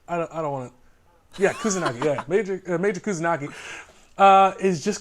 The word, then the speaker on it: Kusanagi: And in this production, the lead character of Major Kusanagi, am I pronouncing that right? I don't want to. Yeah, Kusanagi.